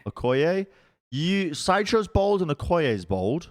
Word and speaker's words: Okoye: I don't know how to pronounce the character that you are, but Okoye. Okoye.